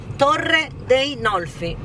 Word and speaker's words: Torre dei Nolfi: Torre dei Nolfi. Torre del Nolfi.